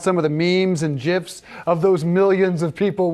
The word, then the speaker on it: GIF: It warms my heart that you say GIF, which is the correct way to say it, by the way.